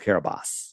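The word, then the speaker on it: Kiribati: It's spelled K Carabati, but it's pronounced Carabas.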